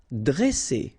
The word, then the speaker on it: dresser: Vowel, vowel, double S, so you pronounce it really strong like S. Okay, dresser. And then when you've got a double consonant after a, you open the sound of the so it will be like e, dre, dresser. Durer.